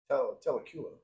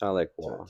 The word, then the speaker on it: Tahlequah: no, Tahlequah. It's pronounced Tahlequah. Telekula. They would get mad if I said it wrong because I went and asked somebody specifically how to say it, and it's Tahlequah. You have to ask an Oklahomian.